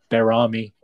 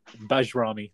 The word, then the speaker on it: Bajrami: when you said when your horrendous streak of mispronouncing players' names continued, and you said Berami. Had me flashbacks to Valon Barami. It's actually, I realize you're talking about Bajrami, the guy from Empoli, but you scared me for a second there.